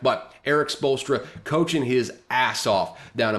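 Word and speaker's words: Spoelstra: the NBA it's Eric spultra uh he's coaching his ass off in Miami right now spolster by the way totally butchered that last name in the first uh attempt But Eric bolstra coaching his ass off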